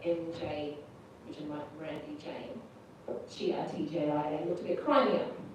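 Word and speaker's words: Tjia: And we decided, so my father's in Chinese name is Chia, but it's spelled the Dutch way, T-J-I-A.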